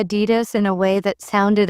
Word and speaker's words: Adidas: I heard you say Adidas in a way that sounded unusual. I thought it was pronounced with stress on the first syllable, but it's actually on the second.